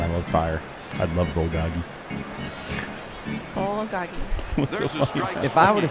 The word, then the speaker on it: bulgogi: will be ul write it down doggy bowl bulgogi b-u-l-g literally fire meat fire meat that's what it says i like meat and i love fire i love bulgogi if i would have said i like meat